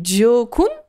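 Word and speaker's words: Gỏi cuốn: Des Gio Kun. Ça s'écrit G-I-O.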